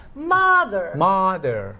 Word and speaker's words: mother: Mother. Yeah. It's the same sound, but it has a different symbol because it's the stressed syllable.